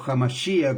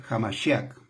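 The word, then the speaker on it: המשיח: el Cristo, el Mesías o Hamashia, como personas lo pronuncian por ahí, Jamashia, que el correcto es Jamashiak, ya, pero Hamashia, bueno, independiente.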